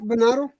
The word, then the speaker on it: Venado: Venado. I can't pronounce it. I'm not gonna butcher that shit. You had it right, Venado. That's right.